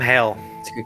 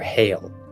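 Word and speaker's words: Haile: e Hae e but not pronounced like Haley all right Hal but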